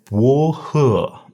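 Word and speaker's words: 菊花: Our first one is Juhua, Mentha haplocalicus herba. Juhua. So this one, I like to be careful about the pronunciation.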